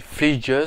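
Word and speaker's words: Fleeges: Ce film raconte donc l'histoire de la famille Fleegeus, ça se prononce comme ça, parce que c'est pas évident à prononcer, c'est F-L-E-E-G-E-S.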